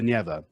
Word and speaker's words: Neva: Petersburg is called the Neva. with the Yeah, stress on right. the first syllable.